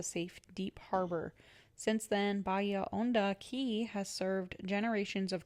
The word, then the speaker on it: Bahia Honda: So it says, how do I say it and what does it mean? Bahia Honda. It says Bahia Honda and it means deep bay in Spanish and is commonly pronounced Bahia Honda.